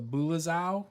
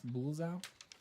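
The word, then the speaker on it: Bulezau: And those were the, I'm going to say it wrong again, but it's the Bulazau, I guess. Bulazau.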